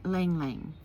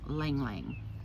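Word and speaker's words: ylang-ylang: And ylang ylang, okay?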